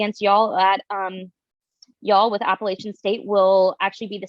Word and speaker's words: Appalachian: for saying this, but it's not Appalachian, it's Appalachian. Our fans get really, really offensive when you say it wrong.